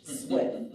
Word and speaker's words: Zwipf: Zwipf. My last name is spelled Z-W-I-P like in Paul, F like in Frank. It's German. The P is silent.